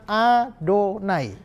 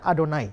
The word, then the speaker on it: Adonai: sudah sing ya Bahwa tiap kali orang Ibrani ketemu ke-4 huruf ini yhwh mereka pasti menggantinya dengan adonai kata2 dodoy setiap kali ketemu yhwh bacanya adonai Hai tapi nama Allah